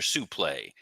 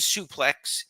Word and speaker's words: suplex: a question for you is it suplex or sup play I watched the Greg Valentine match from 84 and solely kept calling it a sup play when did it change it is suplex he was pronouncing it in the the French